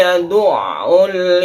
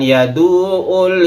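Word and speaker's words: يَدُعُّ: Ainnya itu bertasydid sehingga kita membacanya harus benar. Bukan yadu'ul yatim tapi ditabrakkan ke ain dulu.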